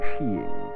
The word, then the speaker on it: skiing: to enjoying the winter sport of skiing pronounced sheing with a joyous Galant